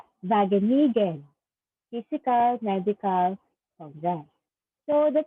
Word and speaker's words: Wageningen: Hindi siya W, it's Wageningen Physical Medical Congress.